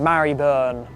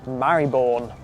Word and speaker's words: Marylebone: Mary on okay let's move on from that to St. Marburn or just Marborn. And if the name stayed as Marbone, I don't think we'd be having the same debates about how to pronounce it.